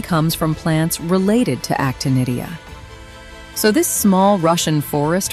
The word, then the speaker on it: Actinidia: This fruit is called actinidia, pronounced actinidia.